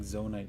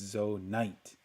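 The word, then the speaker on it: Zonaite: I was saying that I was pronouncing Zonite wrong. It's Zoite.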